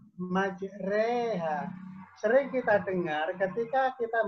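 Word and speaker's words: مجريها: ketika kita baca Quran sering kedengaran salah karena dibacanya majroha Karena dia tulisannya jadi yang bener cara bacanya majreha Yang itu membaca fakta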